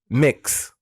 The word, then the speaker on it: Mx: oh my god mix i guess mx dot like you have mr missus it's a title okay that is gender neutral pronounce mix similar i've never heard of